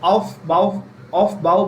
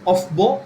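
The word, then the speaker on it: Aufbau: ठीक है, बहुत लोग इसको ऑफ बाउ भी बोलते हैं। ठीक है, यू can call it ऑफ बाउ, that is fine because it's a German thing, origin term, so you can pronounce it that way, but you can call it off-bow principle.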